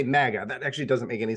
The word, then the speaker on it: MAGA: So I've always pronounced it MAGA because I did Krav Maga. So I was like, it's kind of like more like a Ma, but it's make America. So it must be Ma.